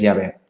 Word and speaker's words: Yahvé: le llamamos, en la Biblia se le llama Jehová, ¿vale? Pero bueno, ya sabéis que se pronuncia distinto, entonces es Yahvé.